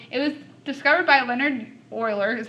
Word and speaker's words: Euler: of cool so it was discovered by Leonard Euler is how you say his name and so